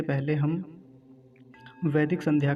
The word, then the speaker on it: वैदिक: तो कुछ लोग इसका उच्चारण गलत करते हैं, क्या कहते हैं, वेदिक। एक मात्रा बनाते हैं, वेदिक बोलते हैं। तो वेदिक नहीं कहना है, वैदिक, क्योंकि वकार पर दो मात्राएं हैं, ऐ की मात्रा है, ऐ। तो क्या बोलेंगे, वैदिक, ऐसा।